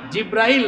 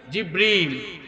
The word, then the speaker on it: জিব্রিল: জিব্রাইল না, জিব্রিল। একটু সঠিক প্রোনাউন্সিয়েশনটা আপনারা শিখে যান, ওই ফেরেশতার নাম হচ্ছে জিব্রিল।